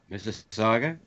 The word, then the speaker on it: Mississauga: Can you pronounce it for me? Mississauga.